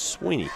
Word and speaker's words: Sweeney: It's spelled S W I N E Y, but it's Sweeny and I should have known that, but I I I messed up there.